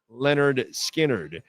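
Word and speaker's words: Lynyrd Skynyrd: In 73, Leonard Skinnard released their debut album pronounced Leonard Skinnard in an impressive set containing Skard classics Tuesday's Gone, Simple Man, and Freeird.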